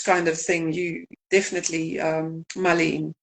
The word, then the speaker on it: mullein: about mullein? Mullein.